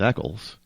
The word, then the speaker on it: Eccles: well first of all my last name is Eckles spelled the same way that you would find